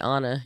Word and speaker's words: Anne: actually name they actually said Anna Anna they pronounced it Anna yeah wow that's super cool that's one thing